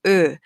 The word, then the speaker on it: ö: difficult to pronounce, but here we have burn, fur. Okay, so for burn, remove the B, then you have earn. If you remove the N, okay, or the R, you have ö.